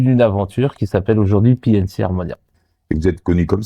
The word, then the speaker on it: P and C Armonia: Bonsoir, aujourd'hui nous recevons le groupe de DJ PNC Harmonia. C'est bien ça? C'est ça, J'ai bien prononcé.